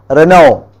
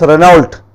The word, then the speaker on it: Renault: As you have a car called Renault, it is written as Renault but it is pronounced as Renault.